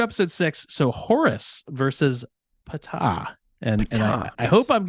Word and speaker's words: Ptah: is Egyptian where apparently the p is pronounced it is pronounced yes so we will be going Pata you will Regale us